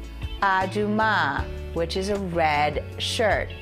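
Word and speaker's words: אדומה: a dress a beautiful dress the dress is pronounced se la seam La for dress and here is a red shirt to say aduma which is a red shirt remember the word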